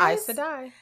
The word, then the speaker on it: Aes Sedai: That makes me also feel like, because there was talk, and I'm going to say this name wrong, the Aes Sedai's. You said it. Aes Sedai's. Aes Sedai.